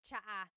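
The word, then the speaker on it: tsaa: Almost polyglot said it's like the word cha. Cha in Tagalog is t like the tea that you drink and it's spelled ts aa. Cha. Cha. That's such a Tagalog spelling. I love it. There's the ts sound and then the double vowel uh pronunciation.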